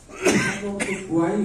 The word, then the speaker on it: Guwai: এবং বরাক নামটা লক্ষ্য করবে, মণিপুরে কিন্তু এই নদীর নাম বরাক নয়, জি অর্থাৎ ওদের উচ্চারণে গুয়াই হবে, GUWAI, এই বানানটা লেখা হয়।